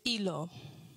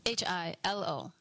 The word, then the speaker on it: Hilo: And we came up with the title, and that title is Hilo. H-I-L-O. Yes. Not hilo. Hilo. Hilo. The H is silent.